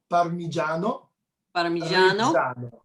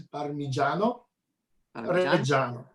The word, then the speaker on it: Parmigiano Reggiano: I know it's not easy, but I want to spend a second to repeat it together, how to pronounce properly. Parmigiano Reggiano.